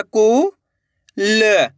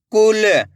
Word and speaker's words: कुल: तो मिलके बन जाएगा कुल। आइए समझ में कैसे पढ़ेंगे? कुल। ऐसे नहीं पढ़ना आपको कूल। अगर आप कूल पढ़ दोगे तो बड़ू की मात्रा का उच्चारण हो जाएगा।